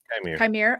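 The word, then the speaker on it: Qimir: I think Quimir, is that how you say his name? Quimir.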